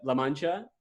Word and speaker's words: La Mancha: started the business in 1954 I hope I'm pronouncing this correctly it's a La Mancha espana yes correct awesome so and I love